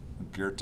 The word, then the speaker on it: Goethe: Goethe is how you say this, not Goethe.